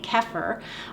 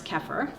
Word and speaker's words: kefir: Well, there's actually 3 ways to pronounce kefir. It's a cultured dairy food, and you could say kefir like I am. Other people say kefir. That's very popular in the United States. You can also say kefir, which is another popular but maybe overseas way that kefir is pronounced.